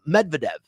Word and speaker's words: Medvedev: he's really good though this guy made medved medvedev medvedev is his last name um he he